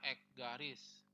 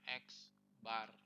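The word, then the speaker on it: x̄: rata-rata itu simbolnya adalah ini ya dibacanya x garis atau bahasa Inggrisnya dibacanya x-bar itu simbol dari rata-rata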